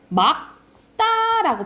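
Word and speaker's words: 맑다: 그러니까 예를 들어서 여러분 리을 기억은 원칙이 기억이라 했잖아. 그러니까는 어떻게 발음해야 돼? 막다라고 발음해야 돼.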